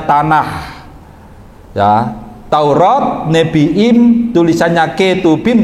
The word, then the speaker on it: Tanakh: Tulisannya Tanakh, bacanya Tanakh.